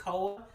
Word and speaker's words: Koa: how to pronounce it it's KOA so it's Cola um but anyway JJ